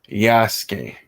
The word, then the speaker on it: Yasuke: what uh another sunday for you we have yasuke or yasuke uh somebody get me right on a person pronunciation please yasuke cool but um gentlemen don't let me take